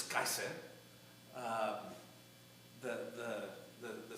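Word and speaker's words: קיסר: In Hebrew, it's Kaiser.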